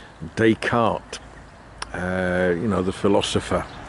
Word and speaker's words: Descartes: to the town and I'm going to say it like an Englishman desk cart Descartes uh you know the